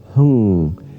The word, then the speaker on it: hung: going to do is say the sound hung. It's spelled like H-U-N or H-U-N-G. And you're really going to hold that N sound hung for as long as you can.